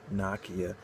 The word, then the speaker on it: Nokia: spain in nokia 3310 or rather nakia 3310 if you want pronounce it correctly but i'll call nokia i'll call it nakia tomato tomahto nonetheless its release well they've